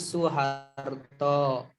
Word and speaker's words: Soeharto: mengeja gitu mengeja kalimat misalnya Soeharto dibacanya Soeharto begitu kalau tata bahasa